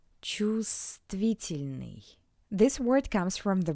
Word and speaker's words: Чувствительный: Please note that the bold letter V is not pronounced. Чувствительный.